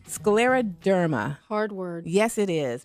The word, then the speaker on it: scleroderma: All right, now pronounce that for us. It's called Scleroderma. Scleroderma.